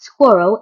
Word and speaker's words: squirrel: Some suggest that squirreled could be included, but squirrel is intended to be pronounced as 2 syllables, squirrel.